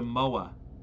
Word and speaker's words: moa: feet tall and yes if you are from New Zealand I understand it's pronounced Mo but you have an accent so my way we hear an uh the Enzo MOA MO as last week's